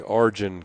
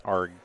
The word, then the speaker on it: Argen: But in Canada, they say Argen, Canada. Argen. Yeah, they just mispronounce it out of spite, I think. But technically it's Argen.